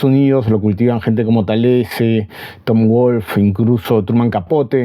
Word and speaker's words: Talese: libro de gay tales no sé si es tales o talis Cómo se pronuncia Pero bueno Es nacido de Nueva Jersey